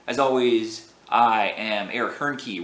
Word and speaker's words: Hoernke: As always, I am Eric Hoernke. Rhymes with turnkey.